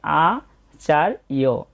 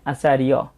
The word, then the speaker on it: আচার্য: তাই এখানে যেমন অন্তস্থ জর কারণে আমরা বলছি ই অ, আর রেফের উচ্চারণটা উক্ত বর্ণের আগে হয়, সেই জন্য আচার্য।